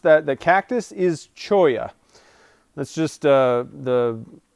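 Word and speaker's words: cholla: that the cactus is choya that's just uh the like spanish way of saying two two double l's in spanish is is a y sound so uh it's choya cactus is what that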